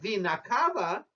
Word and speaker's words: vena cava: for the oxygenated pickup now here I want to stop and talk about pronunciation you see we say Superior and inferior vinay Cafe because it is plural we're talking about two veins but when we talk about one vein such as superior vena cava pronunciation is different you see the plural is vinayakave and the singular is or we can say